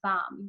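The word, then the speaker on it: bam: that before the mantra the seed syllable for psyche sana is bomb B a.m.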